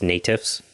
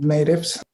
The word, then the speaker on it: NATIFS: traditional indigenous food systems or i believe it's pronounced natives if you're using the acronym yes yes we use the acronym natives yeah sure i'm happy to tell you a